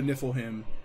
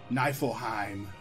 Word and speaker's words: Niflheim: life uh have to go track go to niffle him and track them track it down it's pronounced knifelheim let's pronounced Kraken falcon so let me ask